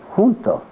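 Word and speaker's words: junto: Janto is a Spanish word which is pronounced hunto.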